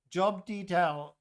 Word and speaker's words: Job: totally go with the job detail Adam. Yeah. Wow, I'm so glad I don't have that redeem. I've never been so more glad. Job detail item, but it's pronounced like the biblical character.